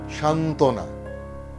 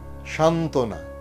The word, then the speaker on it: সান্ত্বনা: আবার বলছি যুক্ত ব্যঞ্জনবর্ণে যদি বফলা যুক্ত হয় তাহলে সেই বয়ের উচ্চারণ থাকে না। যেমন সান্ত্বনা, সান্ত্বনা, সান্ত্বনা।